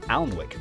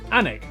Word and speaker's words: Alnwick: stop in Quernmore, Quorma, before finishing up in Alnwick. Alnwick, which is near Newcastle.